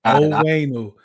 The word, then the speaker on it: Onwenu: Also, Mike Onwenu. From the Patriots, that's Owenu. Okay.